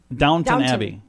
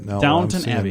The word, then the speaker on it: Downton Abbey: coming in Dan it's it's what happy now Downton Abbey you don't pronounce the W in downtown I am literally